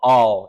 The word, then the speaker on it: Baal: Called Baal or or I'll just pronounce it bail here for Simplicity but but all is probably a little bit more uh accurate term so this is